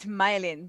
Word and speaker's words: Mylene: So it's my line. No, She's it's malign. pronounced Mylin. Don't malign Mylene.